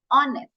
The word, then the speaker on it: honest: But this is pronounced as honest. O. H is silent.